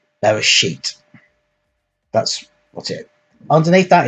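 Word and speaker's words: בראשית: So this is transliterated into English, so that would be something like Beresit. It's actually Bereshit.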